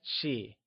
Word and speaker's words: 系: And lastly, let's take a look at she. She is pronounced in the neutral tone. Let's say it one more time. It's she.